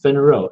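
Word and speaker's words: 分肉: Those Chinese characters is pronounced fin rou.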